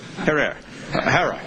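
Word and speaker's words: Herer: Have I pronounced it correctly, Jack? Herrera.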